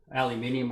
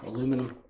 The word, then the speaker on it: aluminium: Aluminium or whatever, aluminum. Americans say, we'll just get rid of that.